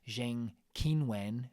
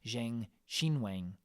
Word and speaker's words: Zheng Qinwen: me in the comments about my pronunciation of Zheng Qinwen, which is what I said. It's apparently Zheng Qinwen.